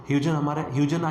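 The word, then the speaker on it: Huygens: ह्यूजन या फिर आप हाइगन बोल सकते हो उसको, मतलब प्रोनाउंस कर सकते हैं, ठीक है।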